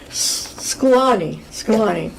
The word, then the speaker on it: Szklany: We have been really privileged to have Karen with us today, and I'm going to pronounce it correctly this time. Again, it is Szklany.